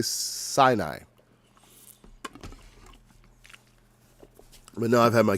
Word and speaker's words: Sinai: two y's yeah that's that's pretty much it c i'm not going to say c i'll say sinai but now i've had my curiosity satisfied all